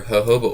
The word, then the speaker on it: jojoba: So you're going to need vitamin E oil or jojoba oil, which is actually, I looked it up, that is the correct way to say it. See?